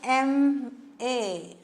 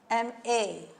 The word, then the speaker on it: MA: But this MA, we pronounce it as MA. MA.